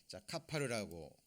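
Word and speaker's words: כפר: 이 속죄 제물이 완전하다 그랬는데 이 속죄의 의미는 카파르라고 읽습니다.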